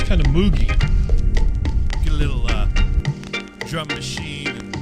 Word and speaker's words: Moog: Why can't I call it moogie? Because it's pronounced Moog.